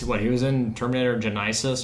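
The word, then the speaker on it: Genisys: What he was in Terminator Genis? Genesis. Wasn't he in that? Really hit Genis. Isis, it's spelled like a idiot.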